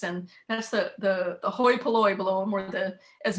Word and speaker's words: hoi polloi: that's the the the hoi polloi blow them where the as miriam knows that the ipoli which is how you pronounce it in greek um but the the